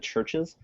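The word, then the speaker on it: CHVRCHES: CH I found this new band churches it's spelled with a V instead of a u but they're like really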